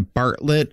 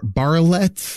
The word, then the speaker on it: Barlett: look at that part because i pronounced it as a bartlett and it is um you wrote very nicely with an asterisk barley it denotes emphasis so is it barley bar barlette it's still barlette barletts there's just no